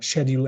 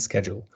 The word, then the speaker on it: schedule: For example, one of the best examples is schedule and schedule. The older generation will use schedule, but their sons, daughters, and grandchildren will use schedules.